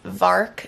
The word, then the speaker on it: VARK: video but the name of the thing is vark VAR K and if you go online to